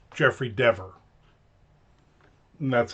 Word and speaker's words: Deaver: I always just thought Deaver. Rhymes with beaver. Rhymes with meaver. But apparently it rhymes with never, endeavor, and sever, and chever.